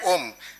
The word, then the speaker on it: Om: time sound is producer it pronouns its pronunciation is like ohm scientists have that is